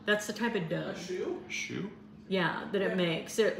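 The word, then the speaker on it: choux: ch o u x is that how you spell it that's the type it does Shoe yeah that it makes it which is a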